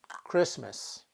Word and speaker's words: Christmas: pronunciation is the mother and sometimes the letter makes no sound at all we spell it but we don't say it as in these words here listen Christmas in these words the t is silent so how do English